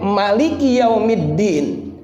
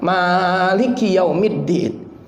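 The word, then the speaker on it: مالك يوم الدين: baca Maliki yaumiddin pendek Nah karena kita ini pengikut Imam asim maka kita bacanya panjang maaliki yaumiddin tapi kalau dibaca pendek pun boleh enggak salah Bagaimana dengan malikinnas malikinnas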